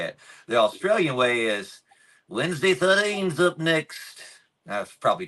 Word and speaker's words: Wednesday: easy to mess up there's really no other pronunciation of uh of Wednesday There's different ways you say it now in North Carolina and in Australia people say my name wednesy so in North Carolina you go man I went to school with Wednesday 13 that's the north North Carolina way to say it the